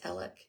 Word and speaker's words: Alex: I don't know why his name is Alec it is spelled Alex I don't know I